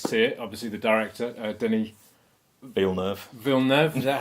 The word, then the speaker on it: Denis Villeneuve: Obviously, the director, Denis Villeneuve, is that how you pronounce his name?